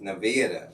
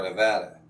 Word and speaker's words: Nevada: Apparently, the only acceptable pronunciation of the state is Nevada, not Nevada.